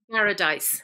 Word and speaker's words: Garadice: How do you pronounce that? Garadice.